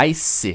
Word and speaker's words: ice: De novo, aquele magic E no final, a gente não vai pronunciar o E no final. A gente não vai falar ice ou ice. Não, a gente está falando ice. Ice.